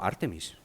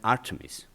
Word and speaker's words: Artemis: si acaso, y efectivamente los americanos pronuncian Artemis, con su problema con las vocales y todo esto, pero el acento lo ponen en la forma correcta.